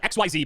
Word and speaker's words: Xyz: It's spelled XYZ, but it's pronounced Xyz.